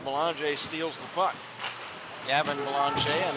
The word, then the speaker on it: Belanger: Gavin Belanger, and that's spelled like Belanger, but it is a French pronunciation.